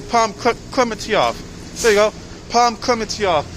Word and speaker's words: Klementieff: I can't pronounce her last name. Palm Klementieff.